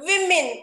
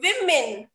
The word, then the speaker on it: women: next word is the commonly mispronounced word women and not woman you are a woman it should be pronounced women the next word the